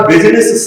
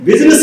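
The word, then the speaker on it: business: बोलता हूं अंग्रेजी का बिजनेस शब्द बड़ा घातक है। क्यों अंग्रेजी के बिजनेस हम शब्द मुंह से बोलते हैं तो बी आई आना चाहिए क्योंकि आई साइलेंट है।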